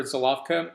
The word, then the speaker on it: Žilavka: So if you want to go to your wine merchant and ask for Žilavka, don't worry about the pronunciation. It's exactly as you see here.